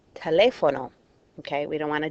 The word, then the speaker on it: teléfono: Again, these are things like saying telefono instead of teléfono.